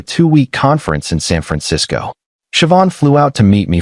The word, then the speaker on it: Siobhan: Her name was Siobhan, pronounced Siobhan. She taught me after I butchered it three times.